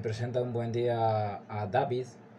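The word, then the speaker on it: Dawid: Y David, se escribe David, pero le dicen David, que ahora es médico y encima cirujano, fue uno de ellos, aunque fue expulsado por cobardía años atrás.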